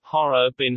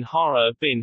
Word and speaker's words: Harbin: One exception is the city Harbin, Har-er-bin, Har-er-bin, whose name comes from the Manchu language.